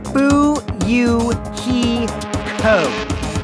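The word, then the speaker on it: Fuyuhiko: last name is my first name is pronounced boo you he ho I'm still an inexperienced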